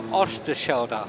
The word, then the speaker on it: Oosterschelde: Well, you need to be Dutch to really be able to pronounce it. Well, that I'll I'm give not. it a go. So Oosterschelde.